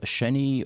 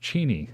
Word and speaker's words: Cheney: he's coming in from sheny Washington thank you for joining us yes and I think that's I think that's pronounced Cheney and if I remember